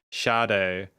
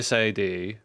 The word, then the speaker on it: Sade: Shade. Oh, thank you. So, I I that's what that's what I mean. I look at that phonetically and I wouldn't know that like with sad but it's why I'm I'm thankful shade.